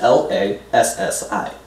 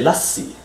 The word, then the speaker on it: lassi: Pretty much the only tricky part about that word is the S-S, and that's because, for example, in Bengali, you would say lassi. So you kind of pronounce the S two times. So it's like a lassi. In English, you don't really have that.